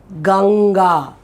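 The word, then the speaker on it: गंगा: will be very easy you say gang and then release for god that gang where you stopped is this sound so gang ga okay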